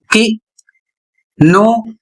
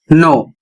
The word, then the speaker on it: know: बहुत से लोग समझ नहीं पाते हैं कि नो नो दोनों एक जैसा पढ़ा जाता है। इसका कारण क्या है? इसका कारण है यहां पर के बाद एन आया है। तो के का उच्चारण नहीं करना है।